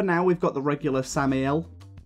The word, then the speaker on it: Samael: But for now, we've got the regular Samael, as people have told me it's properly pronounced, not Samuel, Samael, Samael, something along those lines.